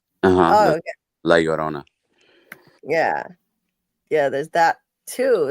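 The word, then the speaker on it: La Llorona: How do you How do you pronounce this, Carl? Leorona. Okay. Laorona.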